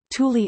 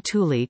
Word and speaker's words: Thule: Unlike the Latin pronunciation, however, the air base is pronounced using the Scandinavian pronunciation with an initial hard T rather than the Latin and Greek soft TH.